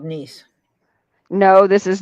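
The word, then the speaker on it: Neese: Depends if that last E is a long E or kind of silent. Yes, she is. Edie's a woman. It'd be niece. Niece? N-E-E-S-E is a last name, a surname. It's niece. Niece.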